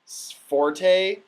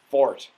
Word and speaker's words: forte: know to be the in French it's Fort and it means strength which is where Forte